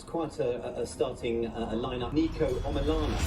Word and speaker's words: Niko: Niko Omilana. They said my name wrong. I can't believe it. It's Niko, not Niko. I don't know how many times I have to say this. I thought they were Niko.